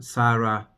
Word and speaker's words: Sarah: Abram, adding the H, become Abraham, and Sarai become Sarah. In English, the H is in the end, so it's not pronounced.